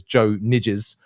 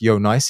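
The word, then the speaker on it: Nijs: let's say English native you probably read his name as Joe nides um but it's pronounced Yonce he's Belgian and um he's perhaps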